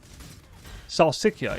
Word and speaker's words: salsiccia: Well, it's not Sicilian, like the place. It's not that. It's Salsiccia.